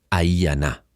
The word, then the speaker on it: Aiyana: Aiyana le enseñó a pronunciar su nombre, Aiyana, como el susurro del viento.